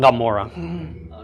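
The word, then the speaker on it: עמורה: Gomorrah. Gomorrah. It's like swallowing your tongue while saying Amora.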